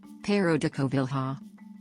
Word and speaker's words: Pêro da Covilhã: pero de Koval ha Pedro or pero de Koval ha or Portuguese pronunciation circa 1400 60 after 1526 sometimes written